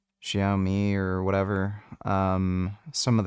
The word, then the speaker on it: Xiaomi: Um there's the Xiao something Xiaomi or whatever. Somebody told me I was pronouncing it wrong. Xiaoi or whatever.